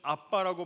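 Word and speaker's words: אבא: 그래서 이 아버지라는 단어를 예수님은 아바라고 쓰셨는데, 잘 아시는 그 아바라는 단어를 쓰셨는데, 우리로 표현하면 사실은 아빠라고 발음을 해야 훨씬 더 정확한 표현이 됩니다.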